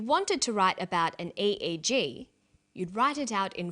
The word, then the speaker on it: EEG: an acronym or an EEG brain scan helps answer that say the Swinburne researchers he says an 88 g that's an abbreviation we don't pronounce it egg we say aeg aeg